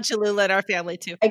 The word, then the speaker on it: Cholula: to we call it chihula hula i don't think that's how you pronounce it chalola we love cholula in our family too